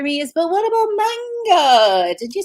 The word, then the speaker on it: manga: Now your next question for me is, but what about manga? Did you say we're going to talk about manga? Manga, which would be the correct pronunciation.